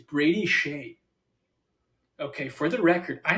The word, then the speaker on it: Skjei: Dude, it's Brady Shea. Okay, for the record, I know who Brady Shea is. Wait, Brady that's how you Shea. say his name? Brady Shea is spelled SKJEI. KJ.